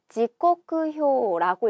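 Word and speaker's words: 時刻表: 떼시자는 읽는 방법, 음독이 두 가지가 있지만 여기서는 지, 타금이 붙게 읽고요. 이 세 길 각자는 코쿠, 그리고 거표자는 효라고 읽어서 지코크효라고 읽게 됩니다.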